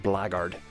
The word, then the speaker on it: Black Guard: pirate I like it it's actually um written Black Guard but it's pronounced blackard which I I really